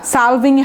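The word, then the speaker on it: salving: সালভিং, হ্যাঁ এটা উচ্চারণ, এলটা উজ্জ্ব রাখবেন না, সালভিংই হবে, হ্যাঁ উজ্জ্ব হবে না, সালভিং হবে না, সালভিং, ঠিক আছে।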